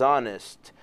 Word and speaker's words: honest: É, esse H aí, atípico no inglês, né? Ele não é pronunciado. Sim. Né? Ele é verdade. No esquema do português aí do honest. Uh-huh. Enquanto logo abaixo você já vê um H pronunciado em human. Sim. Né? Então você já vê aí o contraste. Em honest você não pronuncia o H.